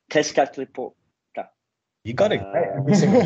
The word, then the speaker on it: Tezcatlipoca: more about the figure of, I'm going to pronounce it wrong, Tezcatlipoca.